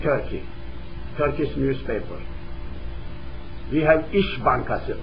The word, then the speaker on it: İş Bankası: We have İş Bankası, I-S, but a little like S is pronounced like S-H.